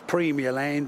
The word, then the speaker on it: Premier Land: Here on this slight curve in the road once stood Premier Land, pronounced locally as Premier Land and abbreviated locally to the Land.